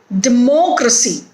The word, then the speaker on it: democracy: is stressed here infancy democracy day mo c it has four syllables in it and the syllable mo is stressed here because it is third from last frequency ability adversely dignity